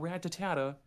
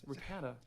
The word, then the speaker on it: Rattata: but God damn it it's Rattata it's not ratatata or ratatata it's Rattata someone in our school I